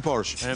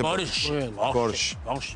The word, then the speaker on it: Porsche: para irse se van el Porsche que no se dice porche Muy bien gracias por